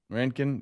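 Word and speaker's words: Rincon: It It's spelled R I N C O N. Is it Ren? R I N. Ren. Ren. You know, a friend of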